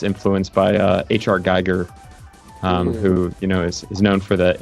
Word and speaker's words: Giger: Yeah, the pronunciation of Geiger in Japanese is Giger. Oh, okay. She was like, oh yeah, Giger. Makes sense. 名前が一致しました。はい。 Some people say it that way here too. Giger.